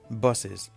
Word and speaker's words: buses: Just an example, as in buses, the last S, you pronounce it as Z, buses.